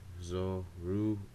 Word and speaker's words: Zorua: It's pronounced Zorua.